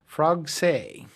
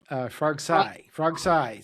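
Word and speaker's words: Frogsailles: So your ranch is called Frogsay, Frogsay, spelled like Versailles.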